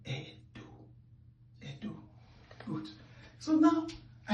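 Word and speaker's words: Ẹdo: And that is what changed the pronunciation of this letter E to Edo.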